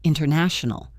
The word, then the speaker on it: international: We often say interview or international. International. This is not lazy. It is just the path of least resistance for the tongue. If you are listening for the sharp T, you will miss the word.